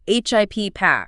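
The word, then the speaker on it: HIPAA: HIPPA. Remember that long a sound at the end?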